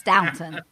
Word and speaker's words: Downton: Well, they do have the Downtown Abbey, and I love that. Not downtown. Yeah. Is it Downtown Abbey? Downtown Abbey. It's Downton. That's Downton. Oh, it's not downtown?